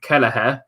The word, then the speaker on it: Kelleher: Then that moves us on to our next player, Kameen Kelleher. I finally learned how to pronounce that name.